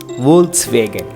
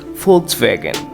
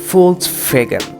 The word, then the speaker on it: Volkswagen: Most commonly and by mistakenly, some people say it as Volkswagen. But in English, it is rightly pronounced as Volkswagen. Yes, it's Volkswagen. But what in German? In German, it is said as Volkswagen.